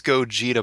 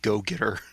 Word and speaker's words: Gogeta: you pronounce it then it's gogeta but you're pronouncing it like a sudden or slurring go-getter well i'm about to